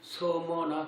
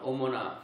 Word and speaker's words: 서머나: 오늘은 두 번째 교회인 서머나 교회입니다. 잘못 발음하면 어머나 그게 아니고 서머나.